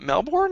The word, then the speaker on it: Melbourne: melbourn all the way Americans say Melvin it's hilarious is it melbourne in melbourne nah just nothing no no I just Melbourne no bun Melvin abolish accents no